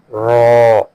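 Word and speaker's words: راء: Next is raw, raw, raw, raw. It is a heavy letter.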